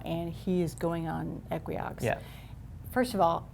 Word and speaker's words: Equioxx: They say Equioxx. Ooh. So I think let's all move forward. I think we've been saying it wrong, Dan. All right, so it's Equioxx.